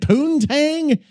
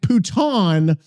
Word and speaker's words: putain: Putain in French is pronounced roughly like pouton with the N nasalized. So it's more like puta. Okay. Poo sounds like poo, but shorter. Tain is like tan, but with the N half swallowed.